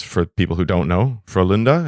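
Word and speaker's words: Frölunda: people who don't know for Linda is that correct pronunciation how's yeah that's good it's good might might have to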